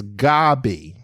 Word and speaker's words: Gaby: be tickle typical but it's it's gobby so gabby is two b's but that's